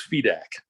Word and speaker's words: Fedak: yeah the the pronunciation my preferred pronunciation what i grew up with was was fedex yeah it's like feedback without the be right right interesting well